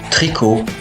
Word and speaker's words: tricot: trois voieslà par exemple tricot peau abricot vous voyez bien que le thé est mué donc on ne dit pas tricote pote abricotte Non mais bel et bien tricot pour abricot.